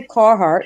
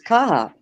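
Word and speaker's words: Carhartt: Kahhat. That's how you say it. Wow. Kahhat. I say car. I say carart because I live down south for so long. But it's kaha. Just get rid of the R.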